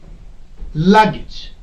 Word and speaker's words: luggage: Breakage, luggage, breakage, luggage. Okay, storage. Any word ending with age, the stress will not be put on this age, but the part or the syllable which is before this age.